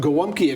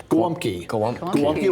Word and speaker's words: Gołąbki: I made some gołąbki a couple of weeks ago and gave some to our producer there.